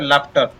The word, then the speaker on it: लाफ्टर: इसी प्रकार LAU ला हो गया, ये फ हो गया और इसको टर पढ़ेंगे तो लाफ्टर। तो इस प्रकार GH से यहाँ पर ये उच्चारण होता है।